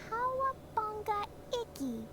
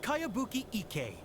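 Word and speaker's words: Kayabuki Ikkei: By Kawabunga Iki. Yomiya, this is a really strange name. Who's this Kawabunga? It's pronounced Kayabuki Ike.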